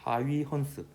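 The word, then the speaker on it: Huygens: 근데 같은 시대에 그 하이헌스 발음이 어렵다. 하위헌스 호이겐스라고도 하는데 이 사람이 이제 굴절 반사 이런 현상을 파동적 성질로 설명을 했는데 이게 좀 더 성공적인 설명 방식이었습니다.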